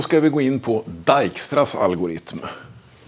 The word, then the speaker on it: Dijkstra: vi gå in på dijkstras algoritm man får säga dikra om man vill men det är från Holland så att det ska uttalas dijkstra ungefär som nimen heter